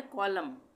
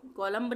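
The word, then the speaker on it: column: ये है कॉलम, कॉलम, कॉलम्ब नहीं बोलेंगे, कॉलम, इस तरह से बी का उच्चारण नहीं करेंगे, हम बोलेंगे कॉलम।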